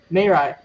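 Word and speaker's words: Mirai: Merai. Okay. So like Mai but like Merai but you but you spell it M.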